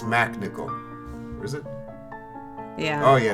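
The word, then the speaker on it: MacNicol: yeah he is oh he spells it weird yeah oh yeah and I had to do yeah he's got that silent h no no it's Mac nickel is it yeah oh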